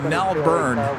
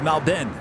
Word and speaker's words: Melbourne: me a while because I used to say it Melbourne then Rudy said no no no no it's Malden so it took me